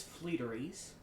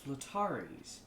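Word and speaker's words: Fleetari: is uh this is fleeteries don't say it like that that's not how you say it uh this is flotaris uh and this is the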